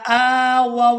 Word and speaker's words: آووا: اور اس کی آیت نمبر 72 ہے۔ والذین آووا ونصروا، والذین آووا ونصروا، اس لفظ کے ہجے اس طرح سے کریں گے۔ حمزہ کھڑی